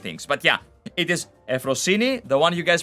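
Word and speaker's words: Euphrosyne: But yeah, it is Euphrosine. The one you guys pronounce as Euphoria, it's Euphoria.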